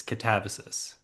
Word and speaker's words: Katabasis: not it's Wait, I not want Katabasis, it's Katabasis.